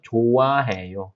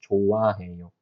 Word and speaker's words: 좋아해요: So 좋아해요. 흐 and 응 looks similar, right? So when 흐 moves the place, then it disappears. 그래서 좋아해요. Pronunciation is just 좋아해요.